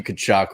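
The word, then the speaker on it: Tkachuk: they are um but the te is silent Matthew kachuck we're gonna go over three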